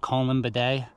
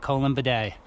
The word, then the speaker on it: Columbidae: I think in America, in American English, we'll be pronouncing it Columbidae. That's how you say that on this side of the pond. Columbidae, planet Columbidae.